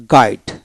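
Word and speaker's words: guide: গেস্ট গেস্ট গেটার গেটার গাইড গাইড জি আই ডিই গাইড জি ইউ না জি আই ডিই গাইড ইউ উচ্চারিত হবে না তারপরে বগ ব তারপরে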